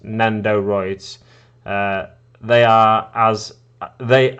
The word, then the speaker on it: Nendoroid: looks look them up they are nenderoids and it's pronounced nendoroids uh they are as